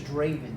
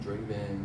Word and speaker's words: Drvvn: at draven at durban so if you spell it it's d-r-v-v-e-n my name is draven draven but you know it's